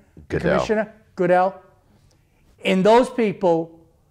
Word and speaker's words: Goodell: Goodell.